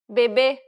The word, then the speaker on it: bebê: bebê, Did you pronounce it correctly? Remember, the circumflex accent requires you to stress the syllable and to use a closed pronunciation.